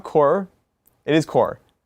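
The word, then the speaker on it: Korps: It's not core. It is core, not corpse. Corp. Or corp. Corpse. I think we're not supposed to say the P. is silent, Yeah, the P is silent.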